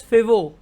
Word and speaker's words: Foveaux: very important straight is fibo straight so it is it is spelt as f o v e a u x but it is pronounced as fibo so between south island